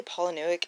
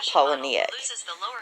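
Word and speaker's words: Palahniuk: his last name correctly I always say poic and that's not it I've had to like Google it multiple times according to Google it's Chuck poic anyway Chuck poic sold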